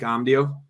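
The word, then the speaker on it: Amadio: and amdio I think Mike omdio is how you pronounce it but he's cheap as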